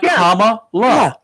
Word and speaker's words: Kamala: it or anybody else she says it's comma we listen to her I listen to the recording and then she explained how to pronounce it it's like comma you don't like that little squiggly thing it's like comma La comma we've been pronouncing it